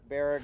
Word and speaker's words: Baraga: I'm glad you showed us some of this stuff up in, how do you pronounce this? Baraga? Baraga area.